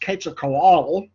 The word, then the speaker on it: Quetzalcoatl: They went to great pains to try to keep them alive if possible, because their god, and this is pronounced Quetzalcoatl, okay, their god also was nourished by blood sacrifice.